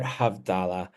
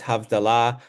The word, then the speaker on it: havdalah: the sky we start havdala and in better Hebrew pronunciation it's havdalah I will probably vacillate